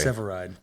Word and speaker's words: Severeid: Or if you're a fan of uh Chicago Fire, there's a hot firefighter guy who has my last name spelled differently but pronounced correctly. Severide.